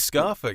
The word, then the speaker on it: Scarfolk: It is Scarfolk, yeah. We were debating Scarfolk, this, but listening back to the interview, yeah.